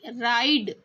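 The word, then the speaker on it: ride: आई है ना राइड यहां पर हमने ई को नहीं बोला है ना तो यहां पर ई जो है वह म्यूट है।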